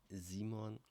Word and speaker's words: Simon: talk from Cologne Germany my name is Simon or how we pronounce it in German zimon but you can call me Simon if you like and